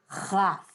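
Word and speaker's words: כ: So here's kaf without the cookie, right? It doesn't have the dot in the middle, and it's pronounced like this. chaf, chaf, chaf, chaf.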